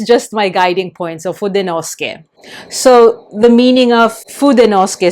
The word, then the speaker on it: Fudenosuke: say Fudenosuke, you say Fudenosuke. I'm not sure, maybe the Japanese speakers or those who are learning Japanese could help to explain why the U in suke in su is not pronounced.